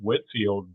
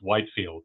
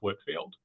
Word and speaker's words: Whitefield: can tell that it was pronounced Whitfield because even in his lifetime it was often misspelled you know without without the e in the middle.